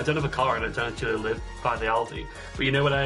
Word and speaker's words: Aldi: at least I'm sorry how do you say Aldi Aldi so I went to Aldi and uh